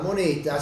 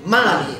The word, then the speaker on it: money: di lingua perché denaro moneta si scrive Vedete bene No lo leggo Mone e si legge Mani Mani Mani Mani Mani